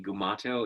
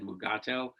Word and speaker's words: Mugato: say the word right it was supposed to be gumato and he said mugato and so there are different pronunciations that are acceptable now i don't know